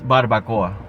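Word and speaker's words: barbacoa: tyo invented the barbecue the pronunciation is barbakoa although there are other forms there's many tyo loon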